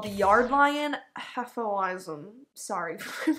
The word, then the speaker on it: Hefeweizen: and that beer was called the yard lion atholism sorry for your pronunciation it's like a beer comb recently they